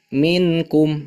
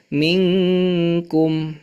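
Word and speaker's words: مِنْكُمْ: Misalkan minkum, ini masih baca yang dibacanya idhar. minkum, harusnya minkum. Nah, itu juga hati-hati ya, jangan sampai ada kesalahan pada bacaan itu.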